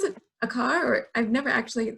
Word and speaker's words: Clay AKR: Am I supposed to pronounce it Akar, or I've never actually said it out loud? Clay AKR, yeah. Okay, great, Clay Akar.